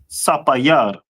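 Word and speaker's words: ספיר: And how would you say sapphire in Hebrew? Sapayar. Sapayar, Most High Christ. So sapphire in the Hebrew is sapayar, right?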